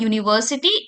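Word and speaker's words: university: Which is a vowel but the sound is नॉट of vowel sound. यहाँ पर जब मैं प्रोनाउंसिएशन कर रही हूँ इसका तो जो साउंड आ रही है वो क्या आ रही है? यूनिवर्सिटी. यू जो है आपका किससे स्टार्ट हो रहा है? वाई ओ ओ.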